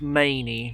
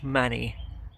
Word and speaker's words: Manea: I've learned from the announcements it's Many, not Manny.